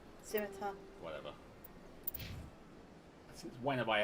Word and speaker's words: Scimitar: Yeah, I'm gonna go over to the schemata. Scimitar.